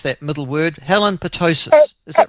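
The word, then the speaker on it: Petousis: Helen Patoussis, is that right? You're pretty close. It's Patoussis, yeah. Patoussis. Yeah, not to be confused with pertussis, otherwise known as whooping cough.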